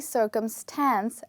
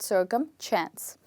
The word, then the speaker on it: circumstance: circumchants which is wrong we don't have any ch in the word we only have s so the word is actually circumstance and not circumchance okay now when we